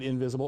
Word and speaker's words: Ynvisible: that correctly but it's it's YN v is lb it's you would pronounce it invisible orion visible and interactive and of